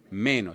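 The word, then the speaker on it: μένω: Meno.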